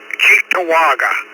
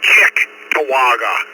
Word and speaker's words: Cheektowaga: It's Cheektowaga. I tell people to say Chick-Tawaga.